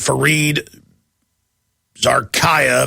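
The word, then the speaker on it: Fareed Zakaria: we've got a CNN host uh coming out fared Zaraya that's how you pronounce it uh we've got him and we've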